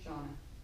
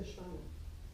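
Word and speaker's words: श्वान: Shauna, there's dog. Okay. No, Shvana. What? Not Shana. Shvana. Shvana. Shvana.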